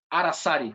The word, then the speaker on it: Aracari: Aracari, am I saying it right? Aracari? Aracari, yes.